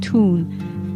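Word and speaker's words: Thun: see you in my hometown tune t-h-u-n it's spelled like a cartoon see you in 2021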